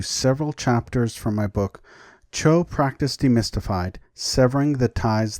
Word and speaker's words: Chod: chapters from my book, Chod Practice Demystified, Severing the Ties That Bind. It is the second installment in my series, Baal on Buddhism. Some people often call it Chod because it is spelled C-H-O-D.